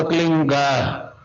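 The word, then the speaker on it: क्लीं: की मात्रा और बिंदी, उसका उच्चारण होगा क्लीन गा। गा की ध्वनि निकलेगी पीछे।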